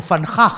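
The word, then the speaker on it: Van Gogh: व जो है ड डच में डच भाषा जो हॉलैंड नेदरलैंड की भाषा है वो फ हो जाता है और जो जी है वो ख हो जाता है तो सही जो उच्चारण है वो फनखा है फनखा तो ये भी ये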